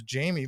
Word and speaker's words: Jaime: i told patty my my last name is jamie but you could it's spelled jaime yeah i just felt